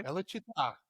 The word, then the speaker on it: Bella Città: How do you pronounce that? That's it. You got it. Okay. Bella Città.